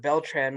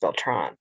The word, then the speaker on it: Beltran: is that when robert beltran went to oh actually i think his last name is pronounced beltron when he went to